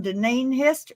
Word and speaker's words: Deneen: well, for goodness sake, I had to learn Deneen Hester's name to say it right, didn't I, Deneen?